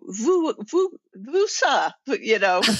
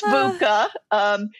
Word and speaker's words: VUCA: So sometimes people even stumble over VUSA, And, Yeah. So it is VUCA, which sounds harsh.